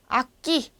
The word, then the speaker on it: aquí: 그럼 얘는 묵음이에요. 아끼.